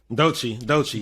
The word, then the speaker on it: Doechii: So shout out, how you pronounce it? Doechii? Doechii.